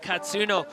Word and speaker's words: Katsuno: Dwindling crowd there as TLA Katsuno. You can see for the crowd at home, we've spoken to him. That pronunciation is from the man himself.